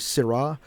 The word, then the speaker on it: Syrah: also known as Shiraz which is the kind of weird pronunciation it's actually Syrah which can be s-i-r-a-h